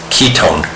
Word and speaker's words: ketone: straight in my head because ketone has that K sound in it and on either side of the C double bond o you have a C so think of a hard C sound like the C and cat ketone so if you